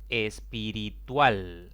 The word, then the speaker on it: espiritual: Espiritual es una palabra de 4 sílabas. La mayor intensidad cae en la última sílaba contando de izquierda a derecha.